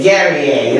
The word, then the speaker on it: Guerrier: She told me it rhymes with Perrier, so I'm going to say Guerrier. Am I saying it right? Yay! Guerrier, CEO of Women on the Rise Network.